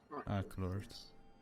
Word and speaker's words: Aclorth: But he is said to be rivaling Aclorth, or how do you pronounce it? Aclorth.